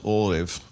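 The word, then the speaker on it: ערב: It's ayin resh bet, orev. But it comes from the root word, and it's spelled identically to this.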